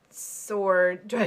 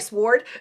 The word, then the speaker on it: sword: I hate it when people pronounce the W in the word sword. Oh, like sword?